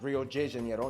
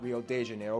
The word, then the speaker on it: Rio de Janeiro: that's right it's pronounced rio de janeiro not rio de janeiro get it right we're not in mexico this is portuguese not spanish this was done to